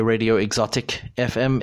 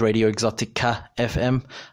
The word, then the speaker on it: Radio Exotica FM: I know that it sounds like I say Radio Exotic FM. It is Radio Exotica FM.